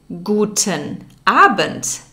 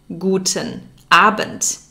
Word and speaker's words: Guten Abend: p.m you would say guten abend guten abend there's a d at the end of aband but it's pronounced like a t we'll learn more about this in a future lesson guten abent and when you're about